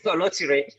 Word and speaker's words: Oloture: Oloture is a film about a naive. I'll hold you there. Say that again. It's called what? Oloture. Oloture. It's the same thing you're pronouncing, actually. Yes.